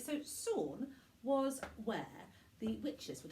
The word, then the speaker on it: Samhain: sebat was known as Salm which is not pronounced the way it is spelt because the Celts like